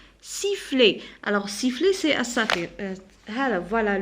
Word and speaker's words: sifflet: Alors ET كنطقها A. Sifflet.